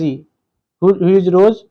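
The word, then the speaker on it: Hugh Rose: तो यूरोस जो था इसकी इंग्लिश में स्पेलिंग है ह यू जी ह आर ओ एस ए रोज इसको कहेंगे हम और देखिए 17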